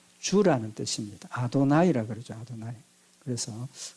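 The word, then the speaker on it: אֲדֹנָי: 아도나이.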